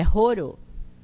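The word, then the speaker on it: horo: O H. Quando ele é só sem um acento, o H tem o som aquele gutural, que nem no inglês a gente pronuncia H como R, certo? Mas é um R fraco, porque esse é forte. Então, é roro. Roro.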